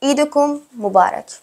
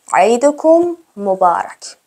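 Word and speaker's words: عيدكم مبارك: و بنویسید اولین عبارت عیدکم مبارک عیدکم مبارک بچه عید چون عین داره حالا من یهکم غلیظتر تلفظ میکنم عیدک مبارک عید فتک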